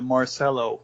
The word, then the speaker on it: Marcello: Is it Marcello Yeah. or Marcello? I want to make sure I get it right. I always gone with the Marcello, the more American way of pronouncing it.